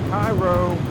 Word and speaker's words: Cairo: okay all right we're in the Cairo that's how you say it another Main Attraction